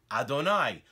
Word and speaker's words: Adonai: We pronounce it as Adonai.